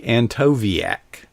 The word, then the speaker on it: Antkowiak: It's Antkowiak. That W is actually a V.